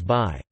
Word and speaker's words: Bayh: Hey, look him over, he's your kind of guy, his first name is Birch, his last name is Bayh.